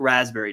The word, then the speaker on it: raspberry: You don't usually say the P unless you're mispronouncing it.